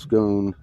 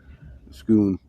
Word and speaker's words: Scone: Destiny um it's uh the stone of scone pronounced scone scoon is a is an I was pronouncing it